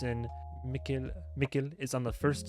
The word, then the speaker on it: Mikkel: So when I first started it, my English brain was saying Mikkel, and people were like, "No, don't do it. It's Mikkel." But then it's like Mikkel, like nickel.